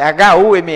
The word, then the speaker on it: Hume: Uma é David Hume, traduzindo para o português, na pronúncia, David Hume, né, que é H-U-M-E, é Hume.